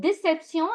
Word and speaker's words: déception: And as you can see, the word déception, it's ending with T-I-O-N, which is sion, and those words are all feminine.